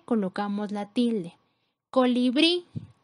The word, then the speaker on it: colibrí: Colibrí, la sílaba con mayor fuerza es bri, que sería la última, cumple con la regla porque termina en vocal, colocamos acento.